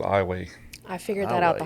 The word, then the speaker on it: Iowa: It's spelled just like the state of Iowa, but we pronounce it Iowa.